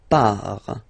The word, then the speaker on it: pars: So the first form is je pars. So final S not pronounced. Je pars.